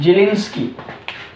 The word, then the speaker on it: Zelinsky: hello वोलार्ड जेलिंस्की, जेड आई एल ई एन एस के वाई,